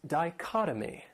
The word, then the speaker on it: dichotomy: Another great noun is dichotomy. This word has 4 syllables and the stress is on that second syllable. Dichotomy.